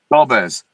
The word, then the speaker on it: Dolbez: Dolves, is is it Dol Dolz or how do you say your name? Dolves.